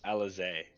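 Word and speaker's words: Alisaie: He pronounces it Alize. Oh, with the Z sound?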